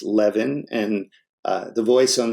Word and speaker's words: Levin: the phone and uh my last name is pronounced Levin and uh the voice